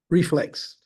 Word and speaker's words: RFLXT: and I'm going to ask him to pronounce the correct reflex reflex reflex yeah like as somebody reflects reflect on something so I wanted to